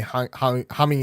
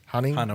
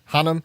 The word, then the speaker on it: Charlie Hunnam: But I also hated Charlie Humming in it. Hunnam, or however you say his name. Hunnam. I hated Charlie Hunnam in it.